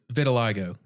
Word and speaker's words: vitiligo: Vitiligo or vitiligo. Yeah, that it's sounds said either right. way. It's vitiligo or vitiligo. I've seen people with that condition, Mhm. I've heard it like pronounced maybe both ways.